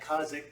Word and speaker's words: Kazakh: were there rich when i would always say it wrong and boris would correct me on how to say kazakh kha'zik kazakh he would say i would hear it but i couldn't duplicate the noise with my face it's very annoying